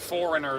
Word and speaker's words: foreigner: Whereas in English, it's like foreigner is a G in it. Never mind the G. It's just it's a sneaky G, right?